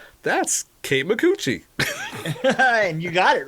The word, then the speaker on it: Kate Micucci: And yes, I'm pronouncing her name right. Kate Micucci.